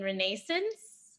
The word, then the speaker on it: Renascence: If all that wasn't enough, her debut musical, correct me on the pronunciation, Renascence.